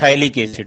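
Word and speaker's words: Phthalic acid: एक होता है थाइलिक एसिड, बेंजीन के दो कार्बन पर एडजेसेंट COH लगा हो तो उसको हम लोग थाइलिक एसिड कहते हैं, PHTH ALIC, थाइलिक एसिड। PH silent रहता है, ये थाइलिक एसिड।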